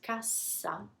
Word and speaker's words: cassa: Cassa, now I'm doubling the consonant, the sound becomes soft. Cassa.